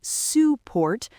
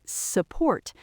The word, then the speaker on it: support: Think of the word support. We do not say support, we say support.